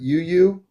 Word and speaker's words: YuiYui: So, am I pronouncing your name right? Yuyu.